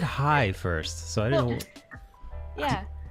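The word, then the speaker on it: hej: hi in Danish yeah we have hi which is h e j whoa see I didn't know that Nikki did you know that basically it's basically pronounced in the same way as hi whoa all right what's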